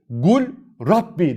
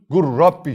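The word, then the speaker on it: قُل رَّبِّ: nasıl görünüyor Görüldüğü üzere Gul Rabbi dersin hayır artık sen idgam mütekaribeyn kuralını biliyorsun lamı gizliyorsun şed veriyorsun gur Rabbi şeklinde Ne yapıyorsun bunu okuyorsun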